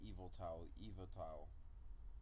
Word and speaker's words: Yveltal: It's well, that's not how you spell it, but I read online that people just say Yveltal.